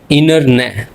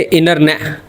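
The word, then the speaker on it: internet: तो इसमें अगर आप गौर करें कि एन के बाद टी आ रहा है तो इसको हम साइलेंट कर देंगे। हम बोलेंगे इनर ने। बोलेंगे इनर ने।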